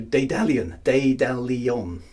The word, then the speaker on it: Daedalion: So, Daedalion, okay? Emphasis on the second syllable.